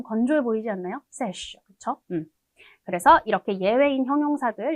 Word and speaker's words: sèche: 근데 이게 여성형으로 바뀔 때 sec 이렇게 바뀌는 게 아니라 아예 철자랑 발음이 싹 다 바뀝니다. 그래서 읽어볼게요. sèche, sèche. 굉장히 발음이 좀 건조해 보이지 않나요? sèche, 그쵸?